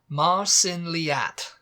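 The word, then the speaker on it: Mar sin leat: otherwise uh number 10 the last one now Marin leat it's m a r new word s i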